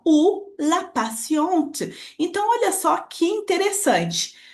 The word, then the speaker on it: patiente: Mas se eu pronunciar patiente, é uma mulher, certo?